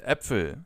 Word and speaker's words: Äpfel: When it comes to the pronunciation of this letter, just think of the English term bat. And now use the same pronunciation as in the Ä from bat and use it for Äpfel, for example.